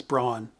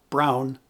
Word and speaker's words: Braun: And for most people, the gold standard of electric shavers is brawn, or as it's pronounced in its home, Germany, Brown.